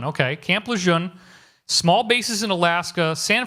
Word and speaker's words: Lejeune: Luzerne I don't know how to pronounce to spell that but that's how that's phonetic la jeune okay Camp Lejeune small bases in Alaska San Francisco Long Beach